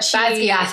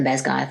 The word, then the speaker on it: Basgiath: But Basgiath is the correct pronunciation. Because I will die on the Basgiath hill, though, in my mind.